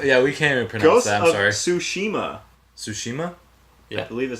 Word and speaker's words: Tsushima: goes above that yeah we can't impose that Tsushima Tsushima yeah believe it say you don't pronounce the to you yeah the Tsushima yeah